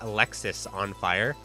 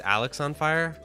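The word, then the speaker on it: Alexisonfire: thing is charlene is i always pronounce the name of the band alexis on fire and then when someone corrected me and they're like no it's alex on fire i was severely disappointed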